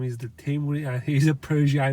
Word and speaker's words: Timur: By the way, the correct pronunciation of his name is the Timur, and he's a Persian guy like me.